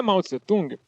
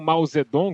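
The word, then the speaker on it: Mao Zedong: Pois é como diria maut zung ou mau zedong que é a pronúncia correta porque a gente falava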